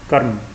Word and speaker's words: कर्म: म के ऊपर है, और उसकी जो उच्चारण है उसका वह म से पहले किया जाता है, और आधा उच्चारण इसका होता है, पूरा र नहीं बोला जाता, इसलिए इसको उच्चारण करेंगे कर्म।